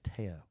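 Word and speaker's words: tío: Well, Tio is uncle. Tio is uncle. I don't think we're saying it right, though. I think it's I think it's Teo.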